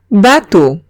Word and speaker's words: bateau: Si veo una A y una U, o bien una E y una A y una U, cualquiera de estas dos se pronuncian como una O. Ejemplo, bateau.